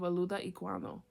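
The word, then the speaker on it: Olaudah Equiano: Experience by taking excerpts from the audiobiography of aluda iano I think that's how it's pronounced a I mean o l a u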